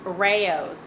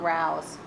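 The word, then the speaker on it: Rao's: It's pronounced Rayos, not Rouse.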